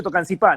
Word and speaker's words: Tocancipá: Te habían dicho Tocancipá, ¿no? Con acento en la. Sí, correcto.